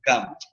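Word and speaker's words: kan: Serpiente en lengua maya yucateco peninsular se pronuncia cam.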